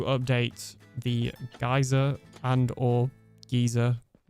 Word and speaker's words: Geyser: needs to update the geyser plugin and uh you say what? Oh, how would you even say that? Not geyser. Geyser. You're phonetically I am not